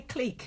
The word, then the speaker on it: clique: Yeah, say clique because that's how it's pronounced, you fucking moron.